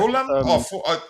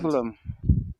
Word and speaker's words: Fulham: Is it pronounced to get, Fulham the H is silent? Fulham.